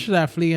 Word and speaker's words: Schlafly: But, unfortunately, Schlafly, I never say her name I think correctly. it's Schlafly, and the only reason I could say that fairly fluently is there's a famous St. Louis bear by the same name.